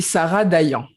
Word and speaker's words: Dayan: That would be Sarah Dayan. Dayan.